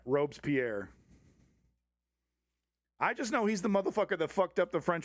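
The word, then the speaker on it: Robespierre: Pronunciation. Robes Pierre. Oh, you're right. Okay. Clutch cargo. Okay. You're totally correct. Robes Pierre.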